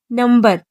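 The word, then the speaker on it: number: जैसे नंबर। इसमें बी से पहले एम है तब भी यह बी प्रोनाउंस की जाएगी।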